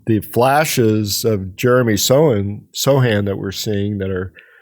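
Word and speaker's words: Sochan: he was mentioned uh Jeremy have we decided if it's Sohan or Sohan because he pronounces it both ways as well I had heard um when we were in Minnesota that they'll land for under the podcast yes there is a on the Spurs um notes okay notes that often have pronunciation guides for like opposing announcers it says Sohan so when you go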